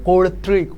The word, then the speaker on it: কর্তৃক: তোমার কিন্তু দূরে দিতে হবে, কর্তৃক, উচ্চারণটা আমি আবার বলতেছি, কর্তৃক।